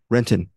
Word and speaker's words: Renton: the new rookie Angela, played by Renton, not Rentone, Kristen Renton.